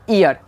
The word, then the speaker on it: ear: ईयर। यानी ई के बाद अगर ए आए तो उच्चारण क्या हो जाएगा?